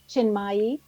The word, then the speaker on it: Chinmayi: Our expert tonight is Julie Chinmayi Dore, and I might have mispronounced that middle name, Julie.